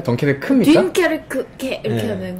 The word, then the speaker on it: 덩케르크: 덩케르크 같은 경우에는 근데 아나백님은 계속 덩케르크를 덩케르케라고 프랑스 발음을 하시는데 뭐가 있어 보이려고 있습니까? 그러는 거 아닙니까? 요즘에 이런 사람들이 많대요. 덩케르케 아니었습니까? 덩케르크입니까?